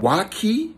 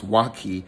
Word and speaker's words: waakye: to try this dish it's called Waki um it's um watch hey that's how they say it but I thought it was wacky it's a dish of